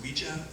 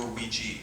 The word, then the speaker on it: Ouija: is we pronounced so it's really pronounced Ouija or Ouiji it was originally trademarked as Ouija but people say when